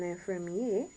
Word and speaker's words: l'infirmière: So l'infirmier, l'infirmier, without the E, would be the male nurse, and l'infirmière, where you pronounce the R, l'infirmière would be the female nurse.